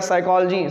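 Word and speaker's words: psychology: और एक वर्ड है और क्या, साइकोलॉजी, साइकोलॉजी की स्पेलिंग P से स्टार्ट होती है।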